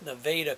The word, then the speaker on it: Nevada: Well, now this is Columbia County, but it's spelled Nevada County, but it's Nevada County.